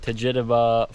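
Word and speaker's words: Tjaetaba: We have arrived at Tjaeteba Falls.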